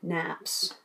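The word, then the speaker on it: nappe: just one of the naps i found out that this word is pronounced nap so here i have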